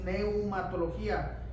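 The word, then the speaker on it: pneumatología: como laa la neumatologos se escribe con p al inicio p y luego es neumatologos del Espíritu Santo Entonces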